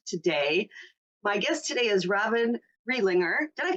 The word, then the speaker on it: Robyn Riedlinger: My guest today is Robyn Riedlinger. Did I pronounce that right? You did. Thank you. Robyn Riedlinger.